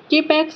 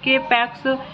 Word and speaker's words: K-PAX: After claiming he is in extraterrestrial from the planet K-Pax 1000 light years away in the Lyra constellation, thought not capitalized and pronounced with a long O rhyming with bot, is committed to the Psychiatric Institute of Manhattan.